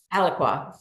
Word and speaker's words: Alaqua: And this is a permanent home for, do you pronounce it Alaqua or Alaqua? Alaqua.